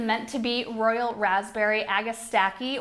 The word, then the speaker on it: Agastache: to be Royal Raspberry Agastache or Agastache, depending on what region you're in. We say Agastache most often here, but we pronounce a lot of things wrong in our area. So I think proper is Agastache.